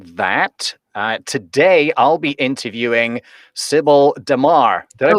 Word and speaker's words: Sibel Damar: Today I'll be interviewing Sibel Damar. Did I Oh, pronounce that Sibel.